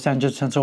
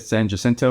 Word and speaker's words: San Jacinto: to do a reenactment of the Battle of San Jacinto, which involves cannons, and that's what you're going to see here.